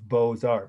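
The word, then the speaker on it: Beaux-Arts: the spelling it's french for school e-c-o-l-e of bosar meaning the school of beautiful art bow is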